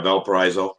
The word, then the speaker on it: Valparaiso: Yeah, Valparaiso. Oh, I Yeah. see. I've been pronouncing it wrong.